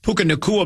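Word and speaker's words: Puka Nacua: Puka Nakua back in the lineup, the Rams would be a different team, and they certainly were.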